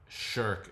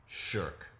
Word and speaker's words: Shirk: So sherk is a very like coarse uh grading word sherk. sherk and it's sort of